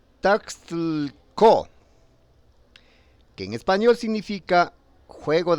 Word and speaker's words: Taxco: Tasco es una palabra de origen náhuatl y se pronuncia Taxtlco, que en español significa